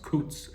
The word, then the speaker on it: k'uuk: So, here we have k'uuk tzu and tzul which is actually pronounced k'uuk and tzul for turkey and dog.